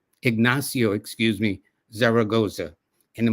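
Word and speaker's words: Ignacio: And his name again is Enazio Ignasio, excuse me, Zaragoza.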